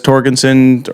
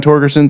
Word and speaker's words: Torgerson: Everybody says Torgensen, or if they even know how to pronounce it, half the time they're just like, Torgerson. I'm like, it's Torgerson, thank you.